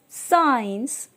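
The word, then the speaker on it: science: है हमारा sceptre seizures साइंस इस तरह के वर्ड्स में हमारा जो लेटर सी होता है वह साइलेंट होता है अब इसके पीछे का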